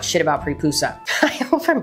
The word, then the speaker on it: Praepusa: There's really not about prepusa. I hope I'm pronouncing that right. We don't really know much about them. Just the fact that they existed and their name sounds like papoosea.